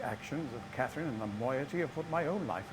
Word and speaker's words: moiety: Well, I'm afraid I've had some trouble with Catherine and the moiety. That's how you pronounce that.